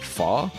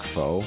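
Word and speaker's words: pho: Fa, that's how you say it. At least not looks like foe.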